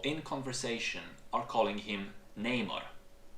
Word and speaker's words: Namor: When Namor introduces himself to the Wakandans, he does it in person, and he says to them, "My enemies call me Namor."